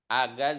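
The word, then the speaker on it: أجازة: inti ARF ya makna agaz di agaz ijazah Az agaz bacanya agaz agaz agaz liburan nah liburan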